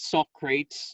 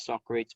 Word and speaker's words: Socrates: gandhi socrates okay uh it's not soft crates okay students would pronounce this as socrates but it's socrates okay so idealism in